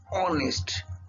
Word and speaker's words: honest: adjectives so an honest the word start with h but it pronounced as a vowel sound honest honest honest that's why we use